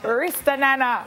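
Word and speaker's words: Ristananna: last year's World Championships 400-meter hurdles bronze medalist Ristanana Tracy. I said it right. Yes. You know, all long ways to hurt myself to pronounce her name right. Ristanana.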